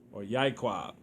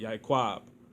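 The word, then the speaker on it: יעקב: Jacob is, or Yaiquab is how you say it. Yaiquab is how you would say it, right?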